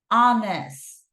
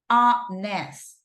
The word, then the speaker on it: honest: In this case, we are pronouncing this word, honest, honest, right?